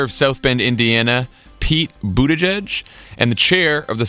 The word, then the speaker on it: Buttigieg: South Bend Indiana Pete Budaj and the chair of the South Carolina Democratic Party Jamie Harrison I'm very proud that I just pronounced mayor Pete's name correctly did he'll be mayor